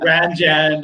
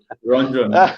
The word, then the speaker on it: Ranjan: looking at you, when I read the name, your name, I miss out on A. I say Ranjan, you know. Ranjan. Or yeah, in America, Ranjan, or it's all messed up. But here they say it properly, Ranjan.